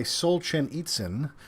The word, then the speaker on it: Solzhenitsyn: him a book by Solzhenitsyn, which Rebecca taught me how to say properly before the stream. Yeah, he has it spelled out phonetically. Yeah. Solzhen eats with a Z.